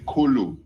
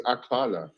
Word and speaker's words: akala: Eat is ku. Okay. No, actually, no. is akala.